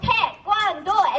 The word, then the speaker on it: Taekwondo: We're gonna yell the three syllables, Taekwondo, as we move forward with three front kicks.